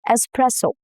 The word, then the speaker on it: espresso: Espresso. No X sound at all. The S stays intact and the stress falls on the second syllable, which is press.